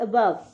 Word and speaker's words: above: Next is ABOVE अबव, इसमें E जो last है वो साइलेंट हो जाता है।